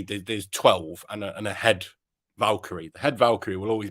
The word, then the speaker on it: Valkyrie: Valkyrie. Valkyrie. Yeah. I keep wanting to say Valeries.